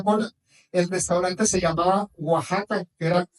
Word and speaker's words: Oaxaca: El restaurante se llamaba Oaxaca, que era y le pusieron para que lo pudieran pronunciar ellos w a H a caja para que así lo pronunciaron.